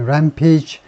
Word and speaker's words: rampage: in a stabbing rampage. 우리가 이거 페이지라고 읽듯이 여기서도 이제 rampage, 광란인데요.